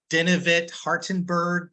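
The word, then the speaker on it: Denavit-Hartenberg: Yeah, those are I can never pronounce that. What is it? Denivit Hartenberg parameters.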